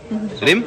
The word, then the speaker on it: Reem: मेरा नाम रीम नहीं रिम बोलता है। स्पेलिंग पढ़ लो नाम की। R E E M, pronounce that as रीम, not रिम। अगर रिम होता तो R I M होता है।